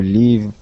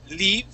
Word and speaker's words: live: okay uh this word instead of being leave is live live good okay the c